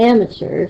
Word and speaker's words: amateur: It's going to be amateur, so am is going to have the stressed syllable.